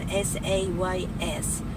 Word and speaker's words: says: says says okay always not says right the pronunciation of s a y s says says right um why because when you